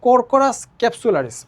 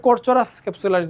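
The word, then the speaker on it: Corchorus capsularis: পাটের যে বৈজ্ঞানিক নাম এটাকে আমরা উচ্চারণ করব কোরকোরাস ক্যাপসুলারিস, অনেকে কোরচোরাস ক্যাপসুলারিস বা এরকম বলে, ঠিক আছে?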